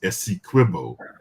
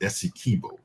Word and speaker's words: Essequibo: And I just want to be very clear that it is Essequibo, not Essequibo. This has always been the way that it has been pronounced.